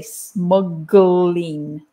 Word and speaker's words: smuggling: sound smuggling and smuggler and the other reason that it's difficult is because you've got the g and the l so you've got a consonant cluster so we have to say smuggling we actually put an uh in the middle to make it easier smuggling and smuggle do